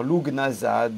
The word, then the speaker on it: Lughnasadh: Alors on peut dire Lughnasadh, Lunazad, Lugnazad, Lunazad. De toute façon, comme je disais la fois précédente, étant donné que c'est un mot celte, il est difficile aujourd'hui d'avoir la prononciation exacte.